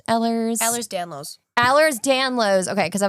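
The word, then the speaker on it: Ehlers-Danlos: which I will ask what how is it pronounced? Ellers. Ellers Danlos. Allers Danlos. Okay. cuz I was saying Ellers's Dellers because I felt like it rhymed and I was like, "No, that's not right.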